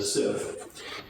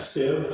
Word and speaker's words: sieve: Just one thing here with the pronunciation of sieve. I know some people, they pronounce it sieve, but if you look it up, sieve is the standard way to pronounce it, even if it seems inconsistent with some other words. That's the way it is with the English language, lots of inconsistencies. So we're going to go with sieve.